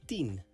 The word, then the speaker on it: tien: 10 in Dutch is tien. This is pronounced like the word tien. Tien.